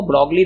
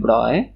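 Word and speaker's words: Broglie: डी ब्रॉय लिखा हुआ ब्रॉगली रहता है, प्रोनाउंस करते हैं ब्रॉय।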